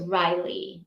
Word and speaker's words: Ryle: cool aunt Maybe rile rhymes with Kyle unless you're saying it